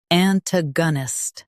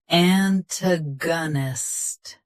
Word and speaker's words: antagonist: Antagonist. Both US and UK have the same pronunciation of this word. Stress ta. Keep ga soft and end with nust clearly. Antagonist. Antagonist. Stress ta. Keep ga soft and end with nust clearly.